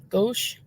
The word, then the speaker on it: Gosch: The Disappearance of Johnny how do you pronounce that last name ghost go gosh like go gosh B go yeah I did